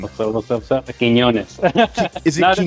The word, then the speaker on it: Quiñonez: There's an Enya on the first N, so Quiñonez. Okay. So I've got like white man tongue, right? So I don't get it right, you know. Or Quiñonez. I've heard some people pronounce it Quintez. I'm like, there's no T in there.